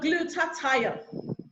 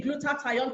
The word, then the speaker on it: glutathione: promise it very well you can just remember I have to glue the tie on your neck so if you see